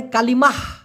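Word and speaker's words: kalimah: কালেমা, আমরা বলি না আপনি কি কালেমা পড়তে পারেন, বলেন তো, ওরা আবার ওটাকে বলে কালিমাহ, লাস্টে একটা হ আছে, কালিমাহ।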